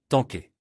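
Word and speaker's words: 坦克: Seulement, il le prononce comme tanké.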